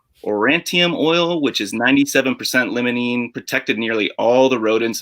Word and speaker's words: limonene: right how about uh lemony limey i might be saying it incorrectly okay that's all right we're all learning here it's actually pronounced limonene like limousine okay all right citrus